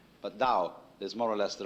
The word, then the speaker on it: Tao: This principle of organic growth they call Tao. That's pronounced Dao. If it had an apostrophe after it, it would be pronounced Tao. But Dao is more or less the right pronunciation for that word.